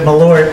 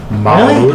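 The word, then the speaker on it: Malört: everybody in Chicago pronounces it Malort, and it's from Chicago. Wait, how is it actually So- pronounced? Hold up. Yeah, how is it pronounced? Malort.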